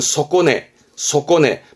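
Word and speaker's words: 底値: 그래서 이제 바닥의 값어치니까 바닥 시세, 발음은 소꼬네, 바닥세, 말하자면 최저가격인 거, 최저가격.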